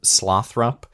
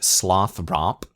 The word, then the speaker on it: Slothrop: also make me think we've been I think inconsistent here in how we're pronouncing the name Slothrop, but it's rendered here slothrop. And I feel like I've kind of been saying slothrop as two separate things.